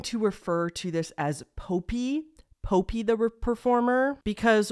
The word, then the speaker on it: Popee: refer to this as Pope Pope the performer because when you hear the theme song that's how it sounds like they're saying his name a lot of people pronounce it poppy though okay so Pope